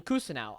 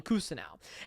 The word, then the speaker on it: Cousineau: was in season three Gene Cousineau pronounces his name his own name as Gene cousin now and so then the